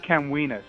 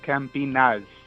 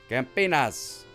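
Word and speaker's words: Campinas: m p i n a s it's not Camas it's campas campas correct that's how it's pronounced excellent GNA going to join your Kora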